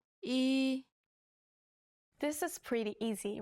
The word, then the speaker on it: 이: 이, This is pretty easy, right? Practice writing this character as you say the pronunciation out loud.